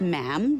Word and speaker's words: ma'am: For instance, when you're addressing the Queen, she is Her Majesty, and after that is just ma'am, rhymes with jam.